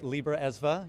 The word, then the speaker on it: Libraesva: Yeah, you know, there is a lot of history around that and thank you for pronouncing it correctly, Libra Esva.